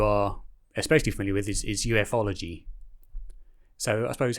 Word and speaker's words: ufology: can, idea of what ufology consists of? Because I know it's Certainly. a very big subject. So even though it looks like it's spelled like with an acronym, it's actually pronounced ufology.